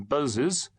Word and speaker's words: Boz: the vicar of Wakefield, which, being facetiously pronounced through the nose, became Bozes, and being shortened became Boz.